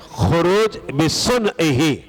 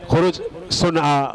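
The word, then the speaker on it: خروج بصنعہ: کوئی پڑھ لیتا ہے خروج سنعہ، خروج بسنعہ، ایسے پڑھ لیتے ہیں، لیکن جو صحیح طریقہ ہے تلفظ کا، کیونکہ یہ عربی کے الفاظ ہیں، عربی کے کلمات ہیں،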